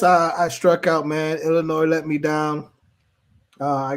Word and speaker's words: Illinois: up in their head illinois illinois is illinois yeah they're at home either way that was the problem everybody was adding to s the s is silent no that means django